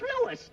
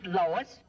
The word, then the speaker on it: Louis: the plant Lois Lois my name is Lewis not Lois Jake Williams everybody in toy believes me name wrong it's Lewis l o u i s Lois uh Louise